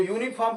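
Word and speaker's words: uniform: ध्यान देंगे यूनिफॉर्म यूनिफॉर्म तो यूनिफॉर्म कैसा बोल रहा है यूनिफॉर्म या में यूनिफॉर्म या बोल रहा दिख रहा स्वर जैसा स्वर जैसा दिख रहा है आपका लेकिन है व्यंजन जैसा उच्चारण करके देखेंगे तो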